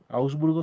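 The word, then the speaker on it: Augsburgo: Osburgo se pronuncia Osburgo en el año 1531.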